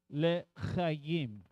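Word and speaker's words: לחיים: We lift up our cup and we say le chaim. Le, lamed, el, le. You'll see it written out in English. L apostrophe L apostrophe CHIM or CHYIM. The pronunciation is le chayim.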